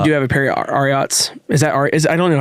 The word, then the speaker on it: Ariat: I actually do have a pair of Ariats.